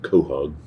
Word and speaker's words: quahog: beads, quahog shell, or I guess they pronounce it back east, quahog.